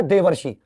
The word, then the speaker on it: देवर्षि: देवर्षि शब्द हमने ऐसे ही बोला है, लिखा ऐसे है, लेकिन उच्चारण कैसे किया, देवर्षि।